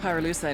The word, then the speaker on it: pyrolusite: You know what pyrolusite is, right? Yeah. Neither did I. Pyrolusite, key syllable pyro, by the way, is the [